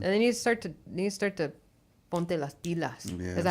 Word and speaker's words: ponte las pilas: time they leave, you need to have them ready for college or trade, and they need to start to ponte las pilas.